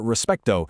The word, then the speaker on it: respeto: For respeto, you want to hit that middle syllable hard. Respeto. Try it. Respeto.